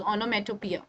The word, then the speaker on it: onomatopoeia: Utopia all right onomatopia okay first learn the pronunciation of the word which is onomatopoeia okay and what is this this is one